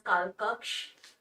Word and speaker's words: Kalkokkho: for being present over here in hindi we pronounced it as kalkaks and the english title is house of time